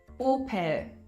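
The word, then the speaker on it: Opel: free to object here knowing that o is being pronounced o in German it's pretty straightforward op op and the opinions about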